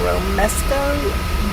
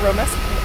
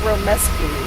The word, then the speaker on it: romesco: I have a really hard time with that romesco. I want to say romesco. I want to put a U in there somewhere. It is romesco.